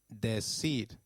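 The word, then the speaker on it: decir: and deed in Spain C when followed by e or I takes up the sound of s in South America and th in Spain so try saying de seed it is De seed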